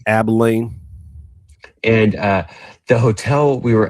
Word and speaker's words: Abilene: be pronounced Abilene.